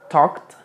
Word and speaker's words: talked: se va a apreciar Entonces tenemos talked talked a ver repite talked talked Okay talked talked suena K t Okay De hecho aquí la l no suena tampoco talked y la a